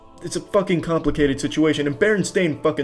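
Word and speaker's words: Berenstain: I wouldn't have these memories of me feeling very stupid by saying Stain when it was Steen. Just it's a complicated situation. And Baron Stain sucks as a name.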